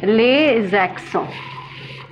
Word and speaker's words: les accents: Les accents, pronounced as les accents.